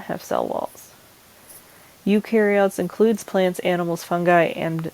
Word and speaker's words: eukaryotes: they are generally smaller UK carots the EU is pronounced U and you are a